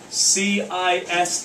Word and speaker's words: cis: is abbreviated as r c i s theta it's usually said cis theta even though cosine has a hard c but we just don't want to walk around saying kiss theta all the time yeah um so you